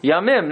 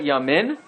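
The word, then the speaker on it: ימים: So how do you say Yaim in plural? Yamim. Yamim. Right? Yamim, not Yamin.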